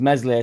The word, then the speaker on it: Meslier: His best lineup is Meslier, Silent S in net, Bogle right back, Firpo left back, Struick and Rodon centre back, AMPADU and Tanaka in the centre.